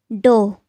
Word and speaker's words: dough: It's dough. Dough. For example, she used a rolling pin to flatten the dough. Try to pronounce this word.